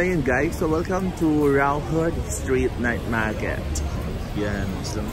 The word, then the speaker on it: Raohe: So ayun guys, so finally nakarating na kami ngayon sa my Raohe. Pero hindi nila yung pronounce as Raohe, instead it should be Raohe. Yun ang kanilang pronunciation.